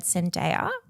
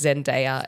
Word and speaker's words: Zendaya: It's Zendaya. It's not Zendaya. Is it a tomato situation?